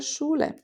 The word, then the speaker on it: Schule: The sh at the start of Schüler and Schule, the E in die, and the long U in Buch.